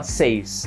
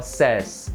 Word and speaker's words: says: Tem uma diferençazinha na pronúncia, a gente não fala says, tá? A gente fala says.